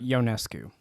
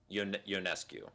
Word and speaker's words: Ionescu: Ionescu. Ionescu, and Caitlin Clark, and Angel Reese, and all